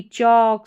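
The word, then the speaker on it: chalk: यहां पर इन सारे स्पेलिंग्स में ए के बाद में जो एल आ रहा है वो साइलेंट है। और ए का उच्चारण अ है। तो यह हो गया चौक।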